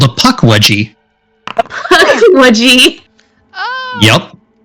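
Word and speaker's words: Pukwudgie: How do you pronounce that name? What? Oh, the name of the creature? Yeah. It's called a puckwudgie.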